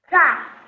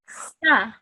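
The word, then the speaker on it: سَ: So this has a normal fatha on top of it, so you pronounce it as sa. Okay. How would you say it? Za. Sa. Za. No, not za. We've moved on to the second column over here, so it's sa.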